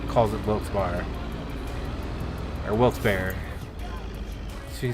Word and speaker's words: Wilkes-Barre: the different ways and I've always known it as Wilkes bar like bars or Wilkes bar Wilkes-Barre I've never heard it pronounced Berry but if you listen